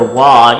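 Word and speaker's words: は: So you'll notice that I'm pronouncing the character wa even though it's written like the character ha that we covered in previous videos. And the reason behind that isn't clear cut, but just know that when you're using it as a particle and what it's used for in grammatical sentences as a topic marker, it's pronounced that way but spelled the same way as ha.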